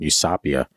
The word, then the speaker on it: Eusapia: The emphasis was on sa. Is S. So weird. Yeah, I know. Eusapia, Palladino, among them, and a young French woman named Marthe Béraud.